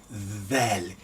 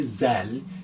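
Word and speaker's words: ذال: The way you pronounce it is you have your tongue trap and forward. That, and then you pronounce Dhal, like that one, that, Dhal, Dhalika, that one. That's letter Dhal. Don't say Zal, is Dhal, Dhal.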